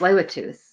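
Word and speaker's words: Tsleil-Waututh: Indian Band so learning how to say this Lua tooth was the first like okay so this is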